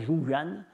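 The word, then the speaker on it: Rouran: Ruran, apparemment, ça se prononce Zhuyan.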